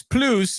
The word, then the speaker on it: Plus: it's Damon Bruce plus but plus doesn't rhyme with Bruce the way that plce does so Damon Bruce PLO is what the people uh call it and for whatever